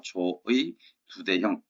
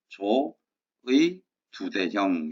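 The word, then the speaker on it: 조의두대형: 조의 두대형. 자, 도금을 한번 잘 봐두시고 제 발음이 잘 안 들리시면 한번 보여드리겠습니다. 자, 관직명이 뭐라고요? 조의 두대형.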